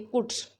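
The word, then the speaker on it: could: देखिए पहले में एल साइलेंट है इसलिए कुड, इसमें कोई वर्ड साइलेंट नहीं है।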